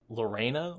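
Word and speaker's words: Laurana: makes his stand, when Lorena, I always call her Laura, but I know that's her name has more syllables than that.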